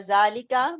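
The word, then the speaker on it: ذلك: Haza baitun wa zalika masjidun. Note, number 1, zalika is pronounced zalika, but it is written without alif.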